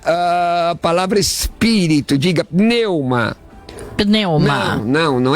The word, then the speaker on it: pneuma: fato pneu uma é a palavra espírito de neuma neuma não não é perdeu uma não é mudo não é neuma neuma meu é isso